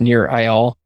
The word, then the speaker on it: Nir Eyal: I believe his name is pronounced Nir Eyal.